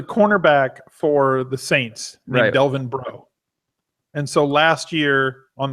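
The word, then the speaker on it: Breaux: this whole thing because his name is spelled br e Au X MH so we would just say come on bro and became like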